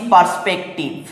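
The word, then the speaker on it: perspective: PERS, purse, PEC, পেক, TIVE, টিপ, এইভাবে পড়বো।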